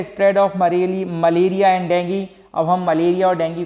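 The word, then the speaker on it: dengue: एज a carrier of डेंगू। अब देखिए एक और फीवर होता है डेंगू फीवर, का नाम सुना होगा आपने, डेंगू भी बोलते हैं और डेंगी, ठीक है, मैं इसका प्रोनाउंसिएशन डेंगी कर रहा हूँ, ठीक है।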